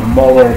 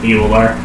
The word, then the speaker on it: Mueller: Mueller. That is how it's phonetically pronounced.